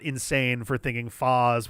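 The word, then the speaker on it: Phaaze: not insane for thinking Foz was a reasonable attempt at a pronunciation. Knowing that Phazon is a thing, Phase works also, but the double A is just like a little bit off to me. I can't think of anything that does double A's that is pronounced A in any language. In English, we've got A and Ah. And in Japanese, it would also just be ah.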